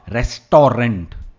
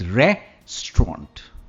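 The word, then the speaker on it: restaurant: pronounce कर सकते हैं याद रखिए स्टार्ट में आएगा रे रेस्टोरेंट नॉट रिस्टोर रेंट वह गलत प्रनंसीएशन है इट्स रिस्ट्रॉन्ट नेक्स्ट पिक्चर मैंने कहा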